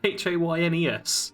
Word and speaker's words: Haynes: Helen Hayes Helen Hayes Haynes I'm not actually sure how you pronounce that h-a-y-n-e-s I think that's Haynes like the underwear yeah Helen Haynes uh